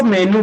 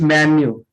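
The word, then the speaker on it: menu: तो बहुत से लोग उसको मेन्यू बोलते हैं, बट the real pronunciation of this word is मेन्यू। मेन्यू, नॉट मीनू, मेन्यू।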